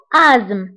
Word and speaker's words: asthme: فبالنسبة لازم انتبهوا لهذه الكلمة فتكتب ب ASTHME وتقرأ بآزم. هذه TH لا ننطقها فنقرأ آزم مع أنها تكتب ولكن لا تقرأ.